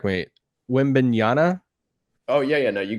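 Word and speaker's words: Wembanyama: how does um and if i say this name wrong correct me win banana oh yeah yeah no you got it how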